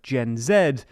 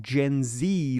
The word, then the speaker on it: Gen Z: Next, my one gripe is your incorrect pronunciation of Gen Z, not Gen Zee like the Americans.